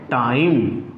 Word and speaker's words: time: But when we add e at last, is that in that word meaning we get time.